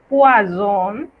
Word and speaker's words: poison: El sonido de una sola S, como en la palabra poison, es una Z que tiene como una vibración parecida, comparable a la de aquellos insectos que vuelan.